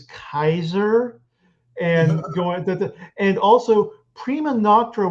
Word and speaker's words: Caesar: It's it's the traditional spelling of Caesar, but they think it's pronounced Khazar. And Lucy just says, "Excuse me, I think you're trying for the Germanic pronunciation, which is Kaiser."